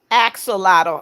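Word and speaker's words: axolotl: Uh, Rose said it is pronounced axelottle.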